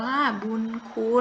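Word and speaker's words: บุญคุณ: คำ ว่า บุญ คุณ อ่าน ว่า บุญ คุณ นะ คะ บุญ คุณ ตัว เนี้ย มี ทั้ง ยอ ผู้ หญิง และ นอน นี้ เป็น ตัว สะกด แต่ เวลา ออก เสียง จะ ออก เสียง เหมือน มี นอ หนู เป็น ตัว สะกด นะ คะ ถึง เขา จัด ให้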